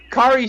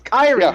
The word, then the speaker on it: Kairi Sane: kerry says sorry corey kari saying they kept saying kari i'm like what the is zakari it's kyrie you schlubs